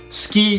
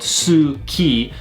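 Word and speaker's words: すき: Now, with this right here, although it is spelled su-ki, we don't pronounce it as suki, we pronounce it as ski, almost like S-K-I, almost like we drop the U sound off this right here.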